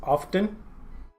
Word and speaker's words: often: supposed to be pronounced words like hasten and soften and fasten for example are sort of etymologically or morphologically similar words which do not pronounce